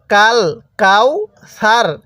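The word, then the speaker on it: الْكَوْثَرَ: জবরকে আমরা বাদ দিয়ে শেষ হরফের উপর সাকিন দিব কিভাবে পড়বো কাল কাউসার তাহলে ইন্না আতাইনা কাল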